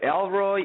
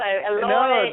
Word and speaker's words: Eloy: Not that many people can pronounce it. I get Elroy, Eli a lot, and you did really, really well.